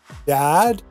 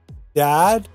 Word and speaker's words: dad: So this sound is much more open and it's also longer. It's a short A sound, dad. Compare that with dead. Close your mouth and it's much shorter. Dead, dead. Can you hear the difference?